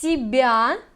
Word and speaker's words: себя: Они сняли с себя всю ответственность. Pay attention to pronunciation. Себя, we like say long s.